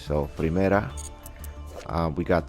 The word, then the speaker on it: Primera: I'm pronouncing it in Spanish. Like this Primera, it means first in Spanish. So Primera.